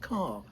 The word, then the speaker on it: Kerr: Um, I've I'm sitting down with my exartner in crime on the writing front, Kerr. Now, K ER, it's pronounced car.